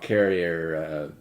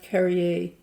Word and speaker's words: Carrier: but it's still it's the most famous rock carrier well if you don't mind it's pronounced carry a carry AIDS yeah yeah it's okay everyone does